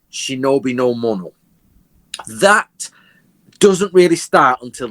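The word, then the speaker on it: 忍の者: The word ninja is actually two ideograms in Japanese, which are pronounced correctly shinobi no mono.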